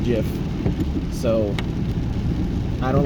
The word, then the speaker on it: GIF: possibilities in a two-second jiff and yes I know it's spelled gif the creator of the format said it's pronounced jiff so I don't like